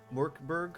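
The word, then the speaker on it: Mörk Borg: how you pronounce it it's m o umlaut r k b o um rg murkberg oh yeah more it's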